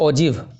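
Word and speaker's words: ogive: और इसे एक और नाम दिया जाता है, जो आपको इसका प्रोनाउंसिएशन होता है ओजिव, OGIV, ओगिव नहीं, ओजिव, इसका OGGV होता है, ओजिव, ठीक है, ओजिव होता है ये।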